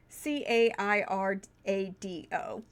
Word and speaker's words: Cairado: a relatively short book, called The Orb of Cairado, I think is how it's pronounced. It's Cairado.